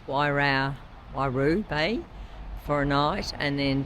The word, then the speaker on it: Waihau Bay: We are headed to, it's pronounced Waihau Bay for a night, and then to Mount Maunganui to eventually drop the bike off on Monday.